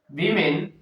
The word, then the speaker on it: women: Women, though it is O, still it is pronounced as E.